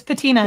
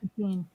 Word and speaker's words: patina: this it'll be fun I'm almost sure it's paa patina it's patina not ptin yeah yeah it's Pantene